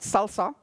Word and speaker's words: SLSA: say that uh but we pronounce it salsa and what it is